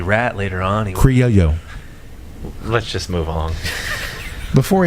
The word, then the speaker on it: Criollo: Derek, did I say Criollo right? No, you didn't. How do you say it? Criollo. That's what I said. No, you didn't. Criollo. Criollo. Criollo. Not yo-yo.